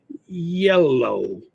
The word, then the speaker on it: yellow: When we say the color yellow, we don't stop the air. The air comes out continuously.